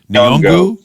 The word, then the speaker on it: Nyong'o: Nyong'o.